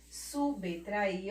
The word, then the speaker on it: subtrair: Outra palavrinha, mais outras palavras, subtrair, subtrair. Ó o Bzinho aqui, o B mudo, sem a vogalzinha que está na sua frente.